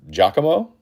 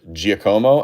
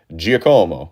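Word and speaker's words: Giacomo: Also, I found out the other day this guy's name is pronounced Jakamo um instead of Jakomao.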